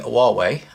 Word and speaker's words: Huawei: repair video this is a wall way and that's how I believe it's pronounced correctly it's the HU awwe